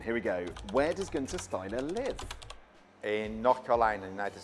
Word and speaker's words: Guenther Steiner: It's in German. It's actually pronounced Guenther Steiner. Guenther. It's too difficult to say for an Englishman, so therefore it has been changed to Guenther.